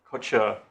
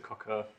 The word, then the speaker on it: Kocur: pronounce his name correctly it's apparently mr kocher kocher thank you in the breaking they will tell me i mispronounced it but it's certainly not mr cocker appearing on behalf